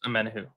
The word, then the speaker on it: Omenihu: Amenihu. Do you know what I'm talking Charles Omenihu.